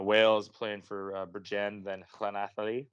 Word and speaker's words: Llanelli: playing for Bridgend, then Llanelli. Look at that pronunciation for all my Welsh fans out there.